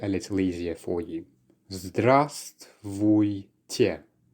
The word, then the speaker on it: Здравствуйте: Здравствуйте. Здравствуйте. Quite a long one indeed, so let's break it down by syllable. The first one actually contains the silent letter V, so we actually pronounce it as zdrast.